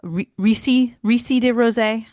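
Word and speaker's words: Rosé des Riceys: And I can't even pronounce it. I think it's Rice de Rosé. It's something like that. It starts with an R.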